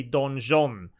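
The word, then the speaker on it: donjon: is uh pronounced so apparently this is a don john and this is a french uh this is a french word actually i was under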